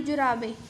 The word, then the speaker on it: जुराबें: पिताजी शायद तुम्हारी जुराबें, देखो ज को छोटे उ की मात्रा आनी थी, इसने किसकी लगाई है, बड़े उ की। सो पिताजी ने सही उच्चारण किया है, शायद तुम्हारी जुराबें अलमारी में रखी हैं, तो उसके पिता ने सही उच्चारण किया है जुराबें।